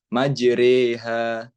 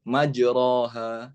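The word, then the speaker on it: مجراها: Nah, dan juga ada kalanya alif itu dibaca agak miring sedikit ke huruf ya, seperti majreha, majreha, bukan majroha, ya. Tapi dibacanya miring sedikit ke huruf ya, majreha.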